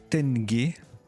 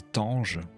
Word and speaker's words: tenge: Le sous-top, c'est Tenge, unité monétaire du Kazakhstan. Je vérifiais la prononciation parce que je voulais pas passer pour un imbécile. Si j'avais dit Tange, non, c'est Tenge, alors sans le S au singulier.